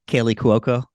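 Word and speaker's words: Kaley Cuoco: Kaylee Cuoco. I Thank think you. I mispronounce it too, but Yeah, I mispronounce it all the time.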